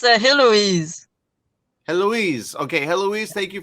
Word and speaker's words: Heloise: It's Heloise.